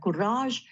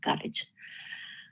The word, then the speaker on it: Courage: mother courage Sometimes some you will find people pronounce it as mother kurage but I for better understanding I'll choose it to be pronounced as mother courage so the most influential um uh part we